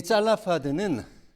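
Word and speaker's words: צלפחד: 슬로보앗은 우리나라 발음으로는 슬로보앗이지만 히브리어로는 짤라파드입니다. 짤라파드. 이 짤라프가 뭐냐면 가시라는 뜻이고요. 하드는 날카로운이라는 뜻입니다. 근데 이 짤라파드는 다름 아니라 왜요?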